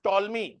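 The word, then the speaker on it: Ptolemy: Roman and Egyptian Claudius टॉलमी A Egyptian Claudius टॉलमी spelling देख लीजिएगा P silent है Claudius टॉलमी टॉलमी started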